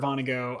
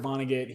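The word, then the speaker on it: Vonnegut: know like uh Kurt Kurt Vono uh not Van Go. Van Go is an artist. Kurt Vonagget.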